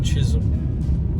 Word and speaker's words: Chisholm: off or is pronounced is pronounced chism so it's all in